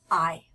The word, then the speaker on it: hay: to learn those numbers I'm gonna start with the word I I remember the H is silent the a and I together make an I sound so I it means